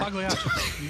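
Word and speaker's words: Pagliacci: How do you say it, Matt? Whatever. Pagliachi. You actually got it right.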